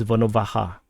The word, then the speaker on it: Volnovakha: And then and also the pronunciation for this one is not ka but ha. So it's Volnovakha. So Volnovakha. So not Volnovakha.